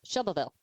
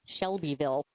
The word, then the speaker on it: Shelbyville: Just like it's Shelville, not Shelbyville.